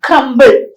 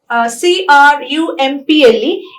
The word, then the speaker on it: crumple: term on the l2 so when people say crm c-r-u-m-p-l-e instead of crumple they would say crumble there's a difference between